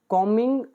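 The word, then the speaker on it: combing: तो हेलीकॉप्टर को सेवा पर लगाया गया एज, क्योंकि कॉमिंग ऑपरेशंस होते हैं खोज ऑपरेशन, तो इसमें बी साइलेंट होता है।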